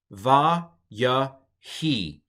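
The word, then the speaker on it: וַיְהִי: But anyway, so this whole word is pronounced va, ya, he. The yod in this case, in the Heuric yod case, the yod is not pronounced like a consonant.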